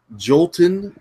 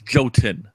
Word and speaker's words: Jotun: let's not forget that joltin I'm probably from now there's no L it's goat in Jotun I did I